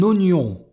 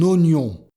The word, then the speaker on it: oignon: Un oignon. Attention ici, OI se prononce O. Un oignon, avec la liaison.